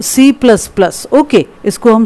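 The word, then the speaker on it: C++: अब इसके कुछ एग्जाम्पल भी आ रहे हैं, some popular HLL are basic सी, सी plus plus, pronounced सी plus plus.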